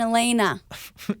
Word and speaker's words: Alaina: Alania like Alaina she's amazing you gotta check out her music sorry I looked at your last name and I said it phonetically Oh james van der